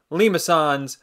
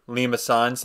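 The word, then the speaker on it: limaçon: But that tail basically means you want to pronounce it as the soft C, which is why it's a Limacon and not a Limacon.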